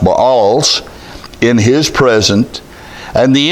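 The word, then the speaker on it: Baals: altars of the balls I used to say bails but I'm told that correctly it is pronounced balls in his present and the incense altars which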